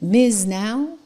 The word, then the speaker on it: MS NOW: It's like Miz now.